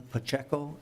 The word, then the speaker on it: Pacheco: Chair, my name is Pacheco, and I'm the Workforce Initiative Director for CLUES, Comunidades, Latinas, United, and Servicio.